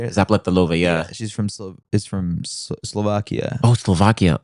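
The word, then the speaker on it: Zapletalová: Zapletalova, yeah. She's from Slovakia. Oh, Slovakia. Oh, snap. Damn. I pronounced her name I perfectly, meant but to I'm say the so sorry.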